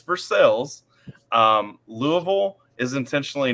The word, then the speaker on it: Versailles: through Kentucky we literally we have towns like vers versales which should be pronounced Versailles vers not it's versales um Louisville is intentionally